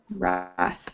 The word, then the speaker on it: wrath: Wrath, yeah. It's a silent W.